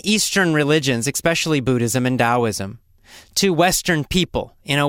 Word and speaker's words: Taoism: So it's spelled with a T, but pronounced as a D.